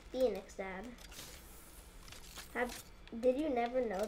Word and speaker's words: Phoenix: And the Pahonix. The Phoenix. Oh, yeah. It's pronounced Phoenix, Dad.